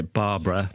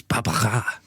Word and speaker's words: Barbara: And I said this was by Barbara, but James's mother-in-law, who is French, corrected me and said it's Barbara.